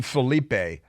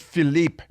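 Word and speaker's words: Philippe: hack named Philipe Reigns don't call him Filipe even though it's spelled p h i l l i p don't come Filipe it's just Philipe he takes UMD and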